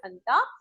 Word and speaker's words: junta: It is written as Janta, but it's pronounced as Hanta.